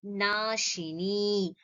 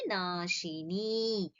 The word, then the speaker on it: नाशिनी: Piyusha Varshini Jiva Shiva Bhedati Nashini. Ni over here is not Hriswa, it is a Dirgham. So, Ni, you have to extend it to the two Kala Matra.